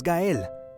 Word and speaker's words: Gel: You see that? That is how you should pronounce it. You know who is not going to pronounce it like that? Me. I am the one who is not capable of that. So it's either going to be Gail or master.